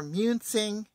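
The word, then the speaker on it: Munising: I am at the pictured rocks KOA near I'm near muncing Michigan and I looked up how to pronounce that and that's the way it is I arrived on June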